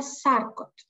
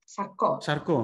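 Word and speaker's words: Charcot: Τώρα θα το προφέρω αν είναι λάθος. Περιφερική νευροπάθεια. Νευροπάθεια Σάρκοτ. Σαρκό, ναι.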